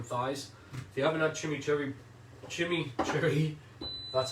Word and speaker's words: chimichurri: If you haven't had chimichurri, that's how you pronounce it, then you're gonna love this.